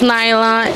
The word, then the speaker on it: Nailha: My name is Nailha. It rhymes with baila.